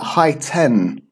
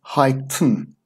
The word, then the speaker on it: heighten: this suffix you know it's not high ten or heighten its pronounced hi tune then hmm and we